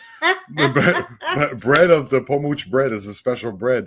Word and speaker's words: Pomuch: P-O-M-U-C-H. So P-O-M-U-C-H. Look it up on like YouTube. P-O-M-U-C, like much, but they pronounce it Pomuch.